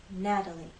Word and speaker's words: Natalie: as a voice tap when you make the flap T you will feel vibration here Natalie Natalie you're going to